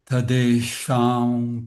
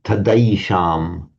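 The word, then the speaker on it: तदैषाम्: Brahmins chanting in Sanskrit, this diphthong I is always pronounced as an I sound, like the two I, rather than as the A. So it's Yadaivam and Tadaisham.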